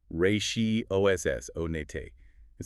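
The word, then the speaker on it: ratiocinate: Ratiosinate. R A T I O C I N A T E. US pronunciation. Rayi oss on it sounds complex.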